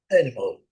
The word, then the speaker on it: animal: Outra palavra que é escrita rigorosamente igual no português é a palavra animal. Trabalhamos com as, né, bem abertos, né? E eles trabalham o primeiro a aberto, né? Ã, mas o último ao animal animal som do u.